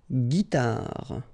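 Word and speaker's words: guitare: and the last one another example with this e g g guitar all right so let's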